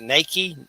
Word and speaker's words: Nakai: Is it Nike? Nike? Nakai? He Nakai.